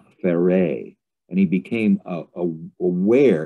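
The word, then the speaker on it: Pharais: So he started writing a Celtic novel called Fare, and he became aware, it's spelled P-H-A-R-A-I-S.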